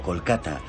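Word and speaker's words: Kolkata: hasta 1912 en 2001 fue rebautizada oficialmente como colata reflejando la pronunciación bengalí y no la inglesa este es uno de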